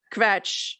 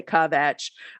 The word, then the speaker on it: kvetch: but then it became kvetch which is harder to say because people say covetch um make it two syllables um and you really